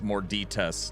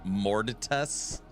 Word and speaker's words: Morditas: So, they tried to tell EHG tried to tell me how to pronounce Morditas, and I told them I pronounce it like I'm ordering at Taco Bell, and they said we know.